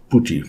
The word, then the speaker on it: PuTTY: search for puty so a lot of People say that is puty or py how to pronounce it? I made some research about it and it should be pronounce it as puty.